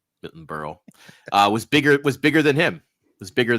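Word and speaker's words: Berle: he also said that uh that Milton uh Burley was burle what how you say his name thank you Milton Burl uh was bigger was bigger than him was bigger and Sinatra.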